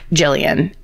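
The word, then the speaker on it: Gillian: Jillian, and in parentheses, it's just said like Jillian but spelled with a G.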